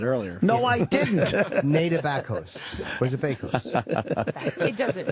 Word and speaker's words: Bakos: You're Nada Bakos. Am I saying it right? What kind of name is that? Bakos is Polish.